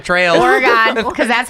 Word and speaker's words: Oregon: on the Oregon Trail. Oregon, because that's how you say it when you're from Wisconsin. Oregon.